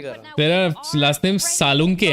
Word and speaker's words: सालुंके: तेरा last name सालुंके है ना?